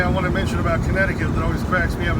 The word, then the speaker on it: Connecticut: want to mention about connecticut that always cracks me up is nobody pronounces it the way it's spelled you don't say connect to cut he's gonna spit when